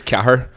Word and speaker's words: Cathair: So my real name is Cahir, but it's spelled like CATHAIR.